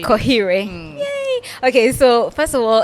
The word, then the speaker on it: Koheirwe: few minutes what yeah it's it's simple really that you say Koh yay okay so first of